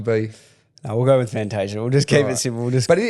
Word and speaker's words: Fantasia: Fantasia is your traditional Italian pronunciation? In Italy, if we're in Italy, it would be Orazio Fantasia, which is a little bit, cringy when you say it, but that's, But that's your name.